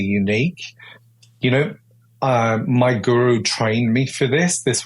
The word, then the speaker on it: guru: um spiritual teacher or Guru It's a Wonderful word it's two syllables goo and Ru and they're Sanskrit words and